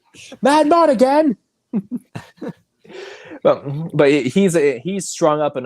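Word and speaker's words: Madmartigan: Oh yeah, you have to say how Warwick Davis says it. Yeah. He put so much emphasis on the first syllable. Mad Mardigan.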